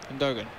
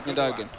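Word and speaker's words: Gündoğan: He's another one that's hard to pronounce. It's Gundogan, I think is the way you're supposed to pronounce it. But I am lazy and I say Gundogan. Right, here we go. You know, I think I say Gundogan. I try and say it German, despite he's not German at all.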